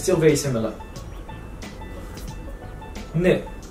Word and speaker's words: ن: N.